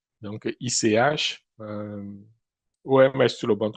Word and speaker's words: ICH: l'OMS et puis euh ICH, ça je prononce en anglais, ICH. Donc ICH euh OMS, tout le monde connaît, c'est l'Organisation mondiale de la santé.